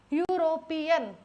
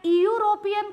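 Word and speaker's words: Europe: ऐसा नहीं बोलते ना इयूरोप एक कॉन्टिनेंट है इ यूरोप हमको जाना है नहीं बोलते हम बोलते हैं यूरोप जाना है यूरोप एक कॉन्टिनेंट है तो मैं यहां य से हमेशा यूरोप को य से बोल रही हूं।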